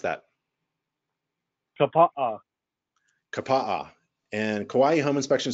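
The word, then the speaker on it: Kapaʻa: How do you pronounce that? Kapaa.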